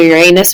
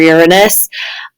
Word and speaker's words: Uranus: I know we all joke about the pronunciation of Uranus, but I've heard many people say both, either Uranus or Uranus.